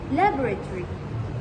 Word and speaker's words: laboratory: on the other hand British English often reduces or swallows the syllables. So for example in British this word is pronounced as laboratory. Laboratory where the ending is reduced.